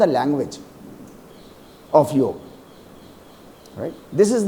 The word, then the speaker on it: योग: None of the versus saying योगा। ऑल are saying योग। There is अ big difference between योगा saying pronouncing योगा एंड योग योग इज the right term but since the language